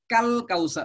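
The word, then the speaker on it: الكوثر: ইন্না আতাইনা কাল কাউসার, কাফ এসে সরাসরি লামকে ধরছে, মাঝখানে আলিফের উচ্চারণটা বিলুপ্ত হয়ে যাচ্ছে।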